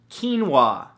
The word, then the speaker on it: quinoa: beautiful thing number two quinoa spelled ke en wuah no that's not how it's spelt at all but it should right